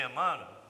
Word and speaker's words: Emmanuel: Existe na psicografia do Chico, talvez 2 Emmanuels. Um na fase que foi febiana e outro pós-febiana. Os livros publicados fora da FEB, de Emmanuel, ou Emmanuel, como é a melhor pronúncia, eles são de outro tipo, de outra qualidade.